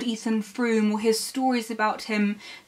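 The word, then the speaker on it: Frome: may pronounce it ethan frame and that's perfectly fine i pronounce it the way i do because i live near a place called froome so naturally that's why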